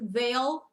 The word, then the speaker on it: Vale: So, they must have changed that because originally it did say Jeff Vale and her last name is pronounced Veil.